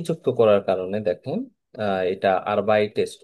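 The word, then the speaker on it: arbeitest: হ্যাঁ, তো তার কারণে এখানে একটা এ যুক্ত করার কারণে দেখেন, এটা আরবাইটেস্ট উচ্চারণ করতে কোনো প্রবলেম হয় না, আরবাইটেস্ট।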